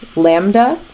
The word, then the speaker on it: lambda: I just wrote is a Greek letter it's pronounced lambda it's spelled like this and it's just for